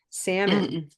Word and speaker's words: salmon: So we might want to Salmon. just reassign this, like forget about the spelling. Let's say Sam, like your friend Sam, right? Now we then you want to reassign this completely to Sam, salmon.